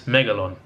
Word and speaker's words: Megalon: got to tell you my cologne is I'm saying it right why is it make it yes Meg alone is Meg alone it's a pretty badass